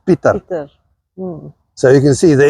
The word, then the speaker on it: Pieter: And it was not Peter, it was Pieter.